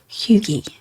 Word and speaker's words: hygge: don't know if you've heard of something called Hugi. It's a um I hope I'm pronouncing that right.